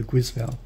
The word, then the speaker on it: Guisval: there it is there see g-u-i-s-v-a-l all it says is it's a Volvo it's made in Spain it's a Spanish company I prefer guzvel so yeah like I